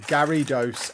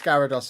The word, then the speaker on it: Gyarados: great thing about level they're pronounced gidos and Pikachu so keep trolling no it's Gyarados and Pikachu yeah so I'm not